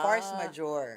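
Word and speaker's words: force majeure: Ang force majure. Force the way you spell it. And then majore. M A j e u r e.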